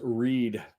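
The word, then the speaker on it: Read: That was Reed, which, why is it R-E-A-D and it's pronounced Reed?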